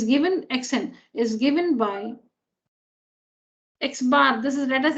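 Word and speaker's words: x̄: X and a bar on it, which is read as x bar. Small letter x, a bar on it, x bar. So this is how it's written symbolically, and it's pronounced x bar.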